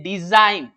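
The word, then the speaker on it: design: वो प्रोनाउंस नहीं होगा जी लेटर जो है वो प्रोनाउंस नहीं होगा जब ये एन के पहले आएगा एन लेटर एन पर नेट के पहले अगर ये ए रहा है तो ये बिल्कुल भी प्रोनाउंसड नहीं होगा जैसे डिजाइन देसी गण नहीं है डिजाइन ऑरेंज का प्रनंसीएशन हो रहा है लेकिन जी का नहीं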